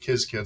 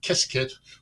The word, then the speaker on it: Qiskit: IBM Qiskit, that's Qiskit, and it's pronounced different ways. I pronounce it Qiskit. Some people pronounce it Qiskit, whatever it is.